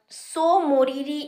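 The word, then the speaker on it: Tso Moriri: पहला है सो मोरीरी लेक, यहाँ पे टी साइलेंट है, और दूसरा है सोकार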